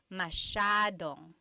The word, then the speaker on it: masyadong: So the S-Y-A is a sh sound. Masyadong.